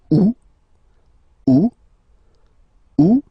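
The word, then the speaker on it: août: are acceptable in French the first one you don't pronounce the final t o second one you pronounce it all right so remember First Option don't pronounce it o o o second option you pronounce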